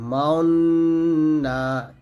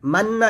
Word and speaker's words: تأمنا: ওয়াজিব গুন্নাটা করার সময় ঠোঁটটা গোল করতে হবে, মাউন মাউন এরকম, মাউন না মাউন না, এরকম ভাবে উচ্চারণ করতে হবে। এটা একটু আলাদা, আমরা কিন্তু এই নিয়মটা জানি না, না জানা কেন লা মান্না বলি, মান্না এটা ভুল, বলতে হবে মাউন্না মাউন্না, এরকম ভাবে।